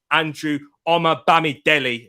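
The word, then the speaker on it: Andrew Omobamidele: been injured a couple of times i couldn't pronounce his name right but i can do it now andrew omar bami delhi there we go i've got it there people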